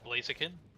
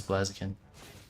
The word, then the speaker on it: Blaziken: Is it pronounced Blaziken? No, it's Blaziken.